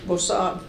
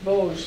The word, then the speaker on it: Vosges: He went to Bossard. How do you pronounce that, Toni? Vosges, thank you.